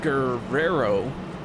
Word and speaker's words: Guerrero: To his outside for Vicente Guerrero. Don't forget to roll your R's.